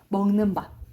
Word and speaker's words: 밤: 깜깜한 밤, 먹는 밤. 먹는 밤. 오케이. 먹는 밤 길게 발음해요.